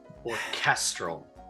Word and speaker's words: orchestral: i know you're trying orchestral the emphasis is on the middle syllable or tell me tell